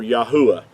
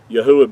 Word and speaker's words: Yahuah: praise unto yah or yahuwah yahuwah being his whole name pronounced out with the four letters instead of the two so i wanted to